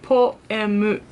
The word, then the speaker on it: Poeme: So you can read this like poemu.